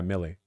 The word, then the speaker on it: Milei: I know Millet is pronounced like heavier Millet. I know that's Millet. Millie? Well, no, it's... Yeah, Millie.